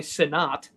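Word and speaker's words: Sinnott: think he pronoun it he may pronounce it Senate I bet he does but it's definitely sinat that's the tight end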